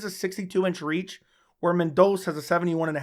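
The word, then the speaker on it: Mendonça: agular versus Matas mendos I always want to say mendosa but I think it's pronounced mendos yeah mendos coming off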